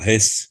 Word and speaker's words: Hesse: Siddhartha, e escrito por Hermann Hesse, ou Hesse, como alguns pronunciam.